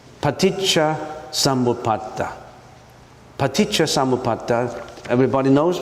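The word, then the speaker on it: paṭicca samuppāda: don't we just you listen to how I pronounce it it's paa samata paa samata everybody knows right are you reading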